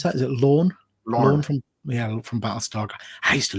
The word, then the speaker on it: Lorne: I remember Bonanza, Lauren from, how do you pronounce that? Is it Lorne? Lorne.